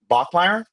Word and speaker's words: Bachmeier: So if it you say Bachmire is how you pronounce it. Mhm. So if Bachmeer is able to e